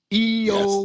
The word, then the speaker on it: IYO: So, first off, we have, let me see if I can pronounce her name correctly, IYO. EO. Is that right? EO Yes.